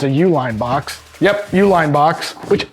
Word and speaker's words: Uline: I think it's a Uline box yep Uline box which I didn't know they're ooh shaky uh but they're a privately owned company by the UL line it's pronounced like UL family but uh I didn't